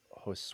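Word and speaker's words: José: I wrote about um I think I'm going to pronounce it wrong because I'm terrible with International names but hos Gonzalez the catcher for the Yankees j o s e is that how you would pronounce it I O this this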